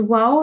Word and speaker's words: wow: okay well done this wow here is pronounced with a w so try to pronounce it as rather than a v sound yeah where's